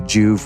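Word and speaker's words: Joovv: so for years now i've been using the juve red light therapy devices in fact at the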